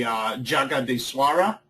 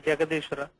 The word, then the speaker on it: Jagadishwara: I have on my list the Jagadiswara. I don't know if that's pronounced correctly. Yeah, this is Jagadishwara.